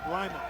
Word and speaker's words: Lima: Is that the correct pronunciation, by the way? Lyman. It is Lyman.